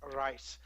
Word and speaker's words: Reiss: much 40 years now where they do pronounce it rice so i have a tendency when i speak german and danish to to save rice and when i'm in speaking english i have a tendency to say reese now the problem is that